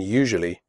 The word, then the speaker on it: usually: The first U in usually is pronounced like the word you.